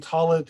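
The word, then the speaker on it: tallit: Talus is simply the Ashkenazi pronunciation, and talit is the Sephardi pronunciation, or the modern Hebrew pronunciation.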